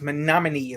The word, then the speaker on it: Menominee: It's Menominee. She doesn't know how to say it. It's pronounced Menominee, lady.